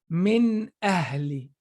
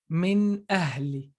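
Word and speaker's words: مِنْ أَهْلِ: So hamza, so that means this noon has to be pronounced clearly.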